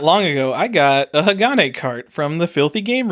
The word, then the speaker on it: Hagane: I used the name wrong, and we'll see how many people are mad.